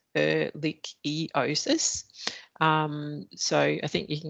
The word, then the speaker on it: ehrlichiosis: It's pronounced ehrlichiosis.